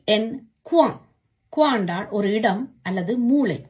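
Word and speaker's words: quoi: கியூ யு ஓ இ குவா, என்ன. பே ஓ இ தே எஸ் புவா, நிறுவை. இப்படியாக ஓ இ என்ற சத்தம் வரும் பொழுது உவா என்று உச்சரிக்கணும்.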